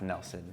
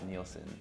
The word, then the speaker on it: Neilson: It's pronounced Nelson, not Neilson.